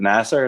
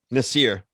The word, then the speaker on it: Nasir: I'm gonna go with is it Nasser? Is that how you say it? Nasir. Nasir.